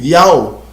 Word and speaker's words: IAOU: Eles colocaram o YHWH em hebraico e ao lado botou a sua pronúncia da sua transliteração, ou seja, botou o I, A, O, U, Iau, entendeu?